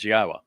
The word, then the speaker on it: Yahowah: Then after that introduction begins, Yahwa, which is the proper pronunciation of God's one and only name as directed by his Torah teaching regarding our higher existence and our shalom restoration.